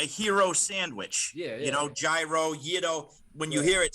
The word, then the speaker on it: gyro: a 300 lobster roll do you guys say gyro or euro i say you're pronounced hero yeah you got to get the in the back of the throat a little bit you know and is